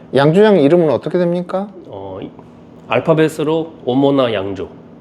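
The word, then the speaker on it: Omona: 알파벳으로 오모나 양조.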